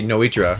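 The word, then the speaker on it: Nnoitra: Disgusting pronunciation, by the way. It should be Noitra, right?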